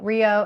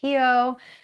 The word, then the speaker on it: Rio: loved about going to we call it Rio. It's actually pronounced Hio.